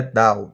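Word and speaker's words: Dunn: falar de e mais a pronúncia correta é Down game Down e entre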